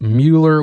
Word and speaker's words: Mueller: that we've talked about or Miller if you want to pronounce it that way supposedly the the guy that it's named after it did pronounce it Miller so I guess technically Miller would be the pronunciation used to be the